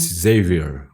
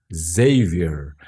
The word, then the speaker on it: Xavier: Xavier. My name is not Xavier, as in Portuguese. My name's Xavier.